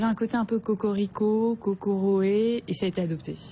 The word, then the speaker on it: Kokoroe: Japon ils disent bien cocoré disent COC voilà le R est un peu roulé c'est ça bon plus